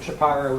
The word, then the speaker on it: Shapiro: is Seth Shapiro um Shapiro is a Southeast Pennsylvania uh pronunciation did I call you